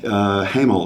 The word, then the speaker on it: Hemel: house of orange you know comes from Netherlands Hamill is actually a Dutch word meaning Hamill it's pronounced Hamill it means the sky which was